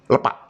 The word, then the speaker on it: lepak: Nah, saya menyebutkan lepak bukan lepak. Mengapa? Karena huruf E-nya diberi tanda topi itu gitu kan. Jadi kalau di dalam Kamus Besar Bahasa Indonesia, begitu e diberi tanda topi itu pengucapannya e pepet ya. Di Maledes kalau malas-malasan ini jadinya lepak bukan lepak ya.